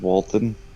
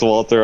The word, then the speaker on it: Walter: Well, somebody's got to save Walton. I know it's Walter. I'm just saying it wrong.